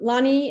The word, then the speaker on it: Lonnie: in the chat um lonnie is that a brand how i pronounce her name that's right and yeah i just